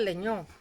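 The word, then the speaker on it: Lengnau: El padre era un sastre judío que emigra, judío alemán, que nace en Suiza y en el pequeño pueblo de Langau, se escribe Legnau. El pueblo tiene un nombre francés, Leñó.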